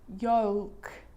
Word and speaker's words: yolk: bit of a cheat, because the letter L is quite difficult to pronounce in all of these words, even for a native speaker. Cold, yolk. So this makes it easier in these words where L is really difficult to pronounce. Then it's silent.